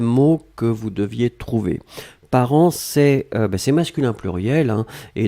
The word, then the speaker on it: parents: on l'écrit au pluriel ici part1 nts d'accord par an on prononce pas le thé on prononce pas lui